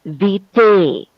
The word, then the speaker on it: vitae: also need to pay special attention to the pronunciation of the word curriculum vitae.